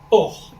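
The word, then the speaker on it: אור: voin et euh euh le mot lumière en hébreu Hébreux biblique hein s'écrit Alf vave rche et ce mot se prononce or je peutêre pas tout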